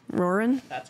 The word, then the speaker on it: Roran: So we get introduced, or maybe not introduced, but Roran. Is that how you say his name? Roran?